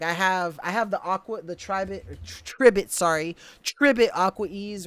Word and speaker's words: Tribit: Because I was saying Tribit, but it's Tribit, like Ribbit.